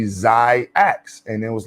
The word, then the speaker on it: XYAYX: Let's get into the phonetics, like xylophone. And in the X, if you put AY together, the Y is silent. And so it's technically XYAYX.